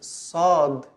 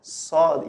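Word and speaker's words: صاد: Okay, so the sod is pronounced like the sin, but a little bit from, you open your throat a little bit. So it's sod, sod.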